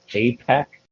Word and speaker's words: APAC: a what is it a pack is how you say it we're doing an apac